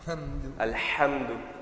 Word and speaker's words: الحمد: So the letter H, you're over pronouncing it. So it's becoming. I want you to pronounce Alhamdu. Alhamdu.